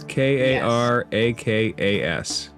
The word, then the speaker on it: Karakas: If you How want do you me to spell spell that? that, it's Karakas.